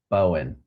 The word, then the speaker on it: Bowen: 10 minutes, with Michelle Bowen, I think is how it's said, Bowen. We'll get it corrected if I'm wrong. My mom just texted me and said it's like Bo. So thank you, Mother. Bowen.